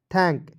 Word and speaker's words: thank: उसके बाद देखेंगे THANK क्या पढ़ेंगे दोस्तों, TH का थ होता है। ठीक है, ए है तो इसका उच्चारण आई के रूप में कीजिए, एन का प्रयोग ऊपर बिंदी के रूप में, और के का होता है क।